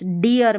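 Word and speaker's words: dear: इस डियर में डियर में इ ए आर को इयर पढ़ा।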